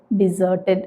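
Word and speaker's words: deserted: ചെയ്യാൻ പറ്റില്ല അപ്പൊ ഇവിടെ ഈ വാക്ക് പറയുന്നത് ഡിസേർട്ടഡ് എന്നാണ് കേട്ടോ അപ്പൊ നമ്മൾ ഈ ഡി ഇ എസ് ഇ ആർ എന്ന് പറഞ്ഞ വാക്കിനെ ഒരു നൗൺ ആയിട്ട് കണ്ടു ഡെസേർട്ട് ഒരു അഡ്ജക്റ്റീവ് ആയിട്ട് കണ്ടു ഡിസേർട്ടഡ് ഈ വാക്കിനെ നമുക്കിനി ഒരു വെർബ് ആയിട്ട് ഉപയോഗിക്കാം അപ്പൊ അവിടെയും പ്രൊനൗൺസിയേഷൻ ഡിസേർട്ട് എന്ന് തന്നെയാണ് കേട്ടോ അപ്പൊ നമ്മൾ അതിനെ ഒരു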